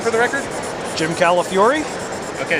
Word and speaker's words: Calafiore: Jim Calafiore? Okay, so it's Calafiore. Okay. Right. I always wondered about that. Calafiore. You say it like California, but you get angry at the end. Fury.